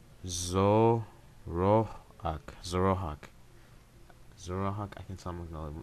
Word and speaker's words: Zoroark: No, it's pronounced Zoroark.